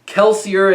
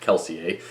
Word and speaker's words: Kelsier: bestow distinct temporary powers kelsier and Vin yes I'm going to pronounce it kelsier and not keler are the two stars